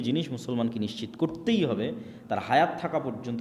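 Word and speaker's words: תורה: মুসা আলাইহিস সালাতু ওয়াসসালামের কওমকে যখন তাওরাত দেওয়া হলো, তোরাহ বলে ইহুদিরা, উচ্চারণ করে যে তোরাহ, যখন তাওরাত দেওয়া হলো,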